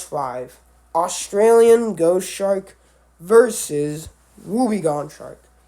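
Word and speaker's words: wobbegong: Australian Ghost Shark versus wubby gon shark I've hear people say wubby Gan shark and woong or whatever the heck but it's wubby gon shark and I'm not GNA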